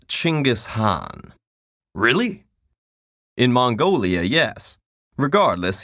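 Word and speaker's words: Chinggis Khan: on I see your honor is familiar with Genghis Khan the 13th century warlord whose military campaigns killed millions and left nothing but destruction in their wake objection first of all it's pronounced chinggis Han really in Mongolia yes regardless he was one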